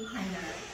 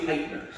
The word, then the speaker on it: Hytner: That's right, it's Steve Hytner. Hytner. Yes. It sounds like Hitler. Okay. Right, it's not.